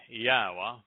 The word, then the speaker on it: Yahweh: hellish period for israel and jews and then yahweh that's an accurate pronunciation of the name of eloah god as